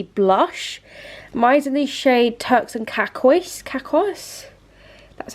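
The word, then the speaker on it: Turks and Caicos: the elf putty blush mine's in these shade Turks and kakois that's how you pronounce it I love it it's so pretty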